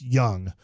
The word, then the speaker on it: Jung: was quickly told no it's pronounced just like Michael Young okay I know that yeah so if you're wondering even though it spelled Jung it is pronounced young uh Evan Carter number